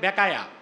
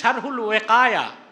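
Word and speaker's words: شرح الوقاية: বলে শরহে বেকায়া। আমি বলছি এই নামে তো কিতাব নাই, কিতাব আছে শারহুল ওয়েকায়া, ওয়েকায়ারে বলে বেকায়া। আরবের আলেমরা শুনলে মনে করবে বাংলাদেশে বেকায়া নামের বেকা কিতাব পাইল কই?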